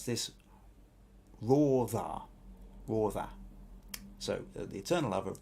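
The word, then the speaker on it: Radha: Now she's told me how to pronounce this. Rotha.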